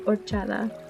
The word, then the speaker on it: horchata: then you strain it so the H is silent yeah someone say horchata